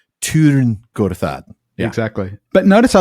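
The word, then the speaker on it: Tyrn Gorthad: They were talking about the Barrow Downs, but these were elves, so they're going to pronounce it correctly with that U, Tirn-Gorthad.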